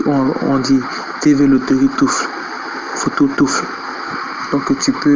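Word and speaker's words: Toof: Vous allez et bon, Tof, ok, c'est Tof, donc Touf.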